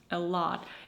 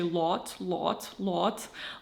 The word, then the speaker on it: a lot: Um, like in the word a lot. A lot. It is spelled with an O. And usually in cases like this, I would really tend to pronounce a I would try to say lot lot like this.